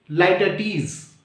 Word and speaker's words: litotes: so let us understand light add is this is the correct pronunciation lighter tease lighter tees this is